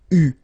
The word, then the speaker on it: eu: It will become eu, so you will have to write this participe passé form like that. Okay, but you will have to pronounce it u.